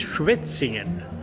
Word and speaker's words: Schwetzingen: Now, can you pronounce the name of this place? This is not the The name is Schwetzingen.